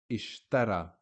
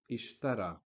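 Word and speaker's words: اشترى: nothing different ishtara Masha as if there was an aleph at the end a normal vertical stick alef that you learned from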